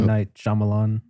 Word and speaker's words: M. Night Shyamalan: M. Night Shyamalan.